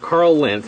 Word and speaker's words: Karl Lentz: Okay, so I'm standing here with Karl Lentz, and am I saying it correctly?